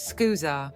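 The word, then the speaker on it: scusa: The pronunciation is skooza.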